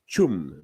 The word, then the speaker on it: Pchum: It's called Pchum, and it's spelled Pchum space Ben, and it's Pchum. The P is silent.